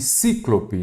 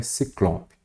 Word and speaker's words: Ciclope: não pode ter acento éter e cíclope nada disso a maneira a pronúncia correta e a escrita é Ciclope show de B bola